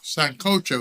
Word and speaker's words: sancocho: Sancocho is the pronunciation.